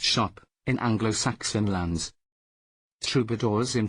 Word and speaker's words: scop: Scop, pronounced shop, in Anglo-Saxon lands.